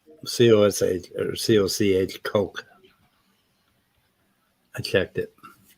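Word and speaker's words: Koch: It's pronounced Coke. C-O-S-H or C-O-C-H, Coke.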